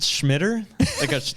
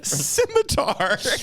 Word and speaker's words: scimitar: Is it Schmitter? Like a Schmitter. I'm probably not announcing it right. Scimitar. Let me see. Maybe it's pronounced Schmitter. I could be wrong. Schmitter. No, That's a C. Scimitar.